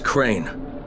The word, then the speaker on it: Crane: store no my name's crane crane crane rhymes with train and brain and sign and grain